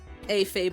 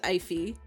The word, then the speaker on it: eyfey: a everybody thinks it's AFE everybody thinks it's a fey but no it is iffy it has been iphy